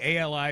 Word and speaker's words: Ali: Um, Salman Ali, who is Salmon Ali, Ali is how he pronounces his last name.